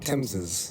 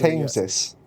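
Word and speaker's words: Thames: Pronounce it. Tames. Yeah. Cuz it's on the temps. Tames. Look. I saw the word. I just I just tameis.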